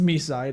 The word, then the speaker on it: MiSide: Even though we found out that it's pronounced Mi side according to the English dub of the game.